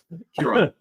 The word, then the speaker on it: Ciaran: Ciaran.